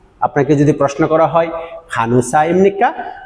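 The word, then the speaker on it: 간호사: আপনাকে যদি প্রশ্ন করা হয় খানুসা ইমনিকা, খেয়াল করেন এখানে খান হোসা, খান হোসা এরকম হবে না, এই নিয়নের সাথে হিয়তের একটা সংমিশ্রণে উচ্চারণ হবে খানোসা, খানোসা, খানোসা ইমনিকা নে খানোসা ইমনিদা।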